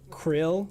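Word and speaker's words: Qhrille: say his name but i think his name is q h r i l l e like krill but it's q-h-r-i-l-l-e i think um and he's done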